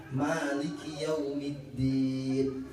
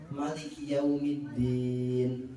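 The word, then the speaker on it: مالك يوم الدين: Bapak Ibu yang dirahmati oleh Allah Subhanahu wa Ta'ala, yang masyhur di kalangan masyarakat Muslim Indonesia niku bacanya pakai panjang. Maliki Yaumiddin. Ngoten nggih. Tapi wonten nggih qiraah lain niku bacanya pendek. Maliki Yaumiddin.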